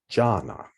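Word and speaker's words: jhāna: synesthesias for absorption states and pronounced in poly jhana the jhanas are remarkable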